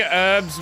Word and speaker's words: herbs: He's saying herbs with an H. Yes. Herbs. That's how you say it. Herbs. It's not herbs. It's herbs. Just Holy Poppin.